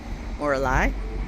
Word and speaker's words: Morlaix: Mora Moralai. I'm not sure. It ends with an X, but you don't pronounce the X.